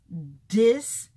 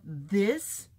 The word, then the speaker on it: this: the teacher taught them to say dis instead of this, or dat instead of that?